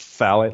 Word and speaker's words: phthalates: by the way it satellites are spelled pH th al ates but it's pronounced Fallot like just th PHS island but anyways ohm they've